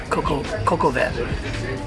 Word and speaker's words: coq au vin: So I got the coq au vin. which I can remember how to say the name because of the song Coco Cabana. Coco Cabana, but you got Coco Cabana. No, Coco Van.